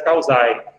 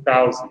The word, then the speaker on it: Causae: Lex Fori e a Lex Causae, ou Causi, dependendo da pronúncia que vocês quiserem.